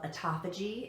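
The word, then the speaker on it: autophagy: G benefits which is felt a tapa G it sounds differently than it's spelled but Ataka G benefits are different after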